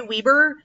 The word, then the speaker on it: Webber: by michelle webber hurwitz now some people say weber however i used to both teach and work with people whose last name was spelled like this and they said weber so that's what i'm going with uh this is about